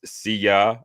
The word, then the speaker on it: Syya: There's Syya, and pronounced Syya as in Syya.